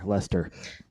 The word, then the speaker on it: Leicester: Leicester sounds like a person's name. L-E-S-T-E-R, yes. Leicester. Yes, although it is spelled Leicester.